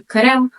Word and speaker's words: Qırım: the cran Peninsula but the original pronunciation of our name is something closer to kurm or kurm tar you see Kia and